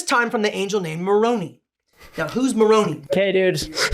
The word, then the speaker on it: Moroni: member of the church, you would have picked up that it's pronounced Moroni.